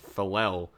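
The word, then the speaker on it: Faalele: road we got daniel i believe that's pronounced falel and we have not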